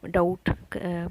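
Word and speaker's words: doubt: जैसे कि बी से हम डाउट बनाएंगे तो डाउट में बी डाउट तो हम बोल रहे हैं, लेकिन डाउट नहीं बोल रहे हैं, बी साइलेंट रहेगा यहाँ पे।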